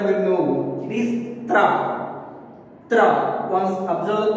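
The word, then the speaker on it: त्र: Tra. Once observe pronouncing Tra. Ta, Ra. Now, we will write those two letters. Ta plus Ra is equals to Tra.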